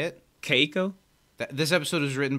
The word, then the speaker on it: Keiko: i believe is the creator is her name kiko how do you do you know how to say it keiko that this episode was written by keiko nobumoto